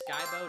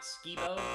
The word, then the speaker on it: Skibo: And yes, it's pronounced Skybo, not Skibo. I've heard both pronunciations. I look, I've been here since I was a kid. I've always said Skybo, but if you plan